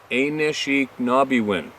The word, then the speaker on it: Anishinaabewin: elders and translating Ashinabemowan, and it was pronounced Anishinaabewin. Who would have guessed that pronunciation?